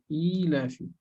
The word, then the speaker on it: إيلاف: But something to remember also is this ilafi. Not li-ilafi. It's not short, huh? It's long. Li-ilafi Quraysh. Not li-ilafi. It's not only kasra, but it's a long e here, right?